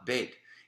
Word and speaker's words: Bet: But when you go to the Bet, it's going to be ba, Bet. It's going to be ga, Gimel. It's going to be da, Dalet. So you understand the transliteration and the actual phonetic sound that letter, that consonant is creating simply by the sound of the first syllable, the first letter that you are pronouncing.